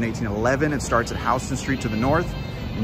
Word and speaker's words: Houston Street: 1811 it starts at houston street to the north and you guys already know it's pronounced house and remember that pronounced